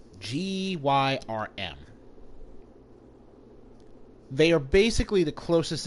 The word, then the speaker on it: Gyrm: Gavlan is a Garm. I mean, how do you pronounce the name? Gavlan is a Gyrm. Gyrm.